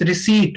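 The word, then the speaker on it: receipt: हम लोग बोलते हैं, रिसिप्ट बोल देते हैं, बिकॉज क्योंकि यहाँ पे पी है, but this is नॉट रिसिप्ट. P silent रहता है इसमें, एंड the real pronunciation of this रिसीट होता है.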